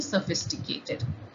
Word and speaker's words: sophisticated: the which is not there in the correct pronunciation of sophisticated so this is also incorrect the correct answer is d sophisticated sophisticated reference to a person who is who